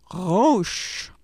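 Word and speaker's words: ראש: It's a difficult one because it has that guttural sound at the beginning, but let's try anyway.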